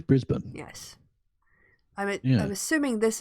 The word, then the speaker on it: Brisbane: Pronounce it correctly. Melbourne. Melbourne. Yes. And it's not Brisbane. Brisbane. It's Brisbane.